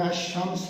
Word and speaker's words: الشمس: ہیں الشمس، الصلاۃ، الزکات، ان میں لام جو ہے اس کا تلفظ ادا نہیں کیا جا رہا، بولا نہیں جا رہا، بلکہ الف لام کا جو لام ہے وہ جو نکرہ حرف ہے اس کے پہلے حرف میں مدغم ہو گیا۔ تو یہ کیا بات